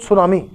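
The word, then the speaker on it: tsunami: टी इसमें silent है, तो सुनामी।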